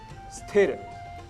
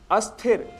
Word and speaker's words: स्थिर: है स्नान न करना और कुछ ऐसे अन्य शब्द हैं जैसे स्थिर स्थिर की जगह हम अस्थिर या स्थिर शब्द का प्रयोग करते हैं जबकि शुद्ध शब्द है स्थिर ऐसे ही स्तुति जिसके